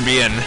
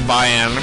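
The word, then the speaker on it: Bian: that she was with Dr. Bien, or Bayan, I think it's Bayan, pronounced Bayan Zoldark.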